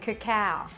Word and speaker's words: cacao: You're actually craving cacao. Cacao is spelled C A C A O.